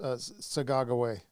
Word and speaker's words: Sacagawea: Do you mean Sacagawea? Yeah, and it's actually pronounced. It's actually probably pronounced Sagagaway. Sagagaway, yeah. Yeah, which meant little bird. She was skinny. That's what they said. That's how to say it.